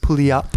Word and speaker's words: Puyallup: Oh, Puyallup. Oh, Puyallup. Puyallup. Puyallup. I heard someone pronounce it pay I don't know.